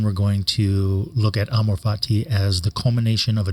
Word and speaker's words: amor fati: exactly how it's pronounced I have heard it pronounced in many different ways amorfati and so on but amorfati is how uh it just sort of rolls off the tongue for me so that's how I pronounce it you can pronounce